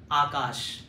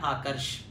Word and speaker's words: आकर्ष: नाम प्रोनाउंस किया आकाश, बट ये आकाश मेरा नाम नहीं है, मेरा नाम है आकर्ष, आकर्षण वाला आकर्ष। सो जैसे उन्होंने आकाश बोला, आकाश, then I said no सर, इट्स नॉट आकाश, इट्स आकर्ष।